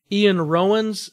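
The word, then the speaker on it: Iwan Rheon: I loved hated even I think it's pronounced Ian Rowan's in Game of Thrones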